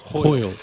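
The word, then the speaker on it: hwyl: I've just been talking to my mother, who's Welsh, so it's putting it to mine now, which is hoyle. It's H-Y-W-L, almost impossible to figure out how you say it, and it means wind in your face.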